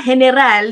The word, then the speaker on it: General: Siya po ay si General. Sabi ko nga general, dito daw it's general, no? Hello, and yes, yun na kasi ang mas madaling i-pronounce sa mga Canadians, and that is fine with me.